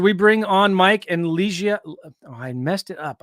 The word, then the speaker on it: Ligia: Ligia. Oh, thank you. Sorry about that. No worries. No happens all the time. Yeah. All right. Mike and Ligia.